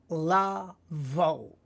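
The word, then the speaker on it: לבוא: You will be able, la vo, to come. Remembering that the aleph is a silent letter, right?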